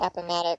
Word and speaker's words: Appomattox: Is that, that's how we pronounce it, right, Kelly? I'm asking my Civil War. You're my Civil War. Yeah, buff. I mean, yeah. That's the way I've always said it. Heard it is Appomattox.